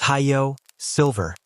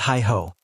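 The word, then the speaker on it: Hi-Yo Silver: It's Hayo Silver, not Hi-Ho.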